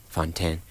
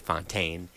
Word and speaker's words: Fontaine: And I'm joined live right here in studio with JuJu Fontaine. How French do you like to pronounce it?